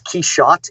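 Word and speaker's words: Quichotte: it was like nuts it's keyShot he's cute qu i sh o tte and it's it's it's the French pronunciation Quixote I threw that in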